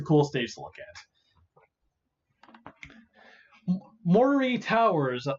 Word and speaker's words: Moray Towers: Moray Towers, Moray Towers, Moray Towers. That's how you pronounce it.